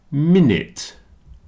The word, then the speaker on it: minute: chocolate comfortable vegetables chocolate minute rhymes with in it it's the only thing I could find to rhyme with minute so here's a man repairing a clock and he is very small and he is in it changing the minute minute in it since rhymes with Prince